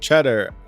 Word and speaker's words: Cheddar: Last name is pronounced Cheddar. I've been here long enough, you need to know. Cheddar. Okay, like cheese. Gotcha.